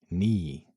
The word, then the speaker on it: knee: in words like knife, knee, knock, no. You don't say the K but is there front and center. Why? Because in old English the K was not silent.